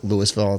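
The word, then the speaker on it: Louisville: Uh it's actually they pronounce it Lewisville. It's same spelling as as Lville, right?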